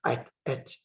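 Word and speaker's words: את: Now, the word es is hard to translate. The word es, aleph, taf, et in modern Hebrew pronunciation, et, aleph, taf, or aleph, saf.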